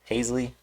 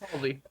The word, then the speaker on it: Halsey: You have Halsey Hazley. I'm saying her name wrong. I know it. Fucking Christ. Halsey.